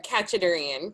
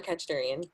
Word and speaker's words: Khachadurian: And I lost the pronunciation. Could you say his last name? Sure, Kachadurian, Kyle Kachadurian.